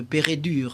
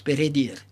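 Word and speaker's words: Peredur: la version galloise de Pérédur. En réalité, ça se prononce Pérédir.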